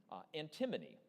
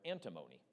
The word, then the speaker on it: antimony: your answer please 10 antimony the answer there or antimony either pronunciation SN from stanum 10 that